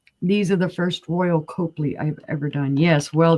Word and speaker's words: Copley: It helps if you spell it right, girl. I say Copley. It's Copley.